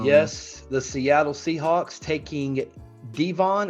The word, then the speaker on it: Devon: the Seattle Seahawks taking Devon or Devin Howard's pronounced Devin Witherspoon cornerback out of the University